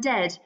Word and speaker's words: dead: And dead, it's said like bed, not bead. For goodness sake, don't call it bead.